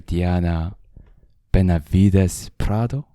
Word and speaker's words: Benavides Prado: welcome everybody Welcome everybody I'm here with Dr Diana Benavides Prado is the correct pronunciation that's a perfect pronunciation yeah yeah thank